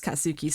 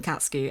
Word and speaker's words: Katsuki: is how they pronounce katsuki's name they they they call him katsky and that's not how you pronounce that name it it's katsuki I I'm angry about